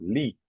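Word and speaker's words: -ly: or yeah in English is always pronounced Lee this yeah okay Lee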